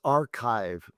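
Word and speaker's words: arXiv: Which is the Greek letter Kai, which is pronounced like K.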